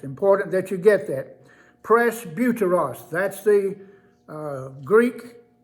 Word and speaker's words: presbuteros: the names and their significance number one is presbuteros presbuteros p r e s b u t e r o s i'll spell it again it's important that you get that press buteros that's the uh greek name for the one